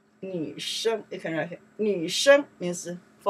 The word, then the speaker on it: 生: We pronounce the sheng, okay?